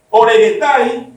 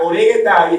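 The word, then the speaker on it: ὀρέγεται: Dice, eitis episcopes oregetai calu ergu epitumei.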